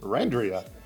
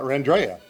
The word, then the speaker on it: Randria: She just did not tell anybody it's Randria and not Randrea.